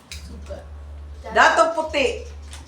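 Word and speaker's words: Datu Puti: How do you pronounce that? Dato puti. Yeah, data puti.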